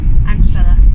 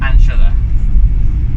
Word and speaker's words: Anstruther: even pronounce where we're going. You say it. Anstruther. Anstruther.